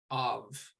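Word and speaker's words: אב: we have the word of so look at this one this one doesn't have the dagesh dot in the middle of it so this is the the sound we have of and this means a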